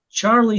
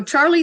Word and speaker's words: Charley: Today's guest on Real Conversations is Charley Thweatt, and I had to make sure I pronounced that correctly.